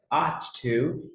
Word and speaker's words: ought: Essa do meio aqui, ela é um pouco diferente, então a pronúncia dela é ought to, é como se fosse só um OT, talvez, e o to no final, mas é a mesma coisa do should, vocês vão ver agora em seguida.